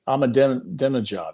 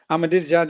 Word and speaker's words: Ahmadinejad: Like Ahmadinejad, how do I do I pronounce his name right? He was a he was a leader in the in the kidnappings? Yeah. Ahmadinejad, yeah.